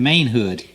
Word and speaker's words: Mainhood: And right now I got Rod Mainhood, M-A-I-N, Mainhood.